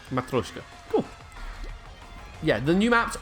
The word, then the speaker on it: Matryoshka: Yeah, you did, but I believe someone in Alpax's chat has given the pronunciation, which is what we're doing. I did read it. Yeah. That was correct. Matryoshka.